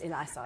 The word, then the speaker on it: Eliasov: I'm hoping I pronounced that right? Close, Eliasov.